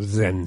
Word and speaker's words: Zen: Y ese Chan, después pasado a Japón, a Corea, se lo empieza a pronunciar como Zen. Zen.